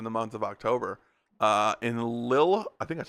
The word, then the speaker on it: Lille: In Lille, I think that's how it's pronounced, Lille, France.